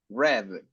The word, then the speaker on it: read: Es la misma escritura, pero la pronunciación es como el color. Red.